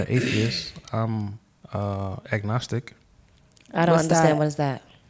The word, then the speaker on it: agnostic: Agnostic. Agnostic. Agnostic. Agnostic. Ag like Agnes.